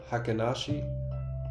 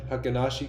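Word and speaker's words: Heikin Ashi: they are what how do you say it hakashi you you nailed it yeah that was yeah hakashi candles hiashi candles yeah I mean I've seen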